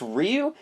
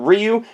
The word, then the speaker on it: Ryu: Then I also got I always pronounce this wrong, but I think it's Ryu. And if you pronounce it in the original language, it's very, very fast and it's very difficult to pronounce, but Ryu.